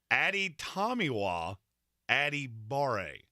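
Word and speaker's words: Adetomiwa Adebawore: is a guy who I just got the pronunciation guide so we can say his name correctly now it's Addy tomiwa Addy Barre out of Northwestern yes now I almost didn't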